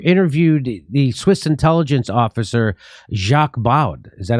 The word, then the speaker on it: Jacques Baud: And Aaron Mate, recently you interviewed the Swiss intelligence officer Jacques Baud. Is that how you say his name? Jacques Baud, yeah. But you say, listen, Jimmy, I much prefer your pronunciations than the actual way.